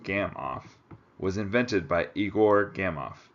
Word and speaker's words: Gamow: noodles serves him right a gam off bag pronounced gam off was invented by Igor